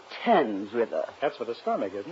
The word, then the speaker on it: Thames: Marx, it's pronounced Thames River.